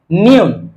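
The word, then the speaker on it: 니은: সেটা হয়ে গেল কিউ তাহলে আমরা একটু বর্ণগুলো উচ্চারণ করার চেষ্টা করি প্রথম বর্ণ হলো গিয়ক গিয়ক গিয়ক নিউন গিয়ক নিউন গিয়ক নিউন দ্বিগুত রিউন দ্বিগুত রিউন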